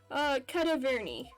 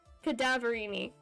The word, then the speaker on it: Cadaverini: Indeed it did, simply because the injured woman was none other than Viola Cadaverni. Oh my god, that's not how I pronounced it before. Cadaverini. Did you say Cadaverini?